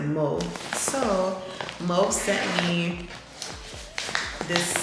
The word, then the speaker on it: Mauve: I have a French tongue, so I pronounce it Mauve.